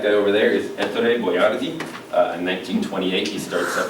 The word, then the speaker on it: Boiardi: His name is pronounced a little differently. It's Hector Boiardi.